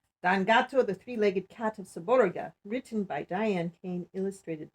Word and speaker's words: Seborga: for pastry with cream pronounced gato saborga is pronounced saborga i live on a hill overlooking the sea